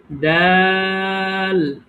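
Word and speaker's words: دال: সুন্দর হয়েছে এরপরে দেখেন দাল দাল দাল একদম স্বাভাবিক দ আকার ল দা শুধু তোমরা টেনে বলছি এটাই আমি যেভাবে বলছি টেনে এভাবে বলবেন তাহলেই হবে দাল মাশাল্লাহ সুন্দর হয়েছে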